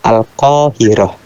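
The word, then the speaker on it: القاهرة: Tapi kalau kayak di Kairo itu bahasa Arabnya Al-Qahirah. Beda kan? Nah, begitu. Jadi pengucapan untuk Maroko itu Al-Maghrib.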